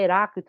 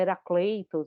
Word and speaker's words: Heráclito: Não é Heráclito, é Heracleitos, né?